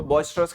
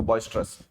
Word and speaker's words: boisterous: ऐसे लोग, ऐसी सिचुएशन जिसमें बहुत उत्साह होता है, जोश होता है, वो हल्ला होता है, तो बॉइस्ट्रस कहता है उसको, बॉइस्ट्रस। तो बॉइस्ट्रस की सही स्पेलिंग होती है ये BOISTEROUS, बॉइस्टर और फिर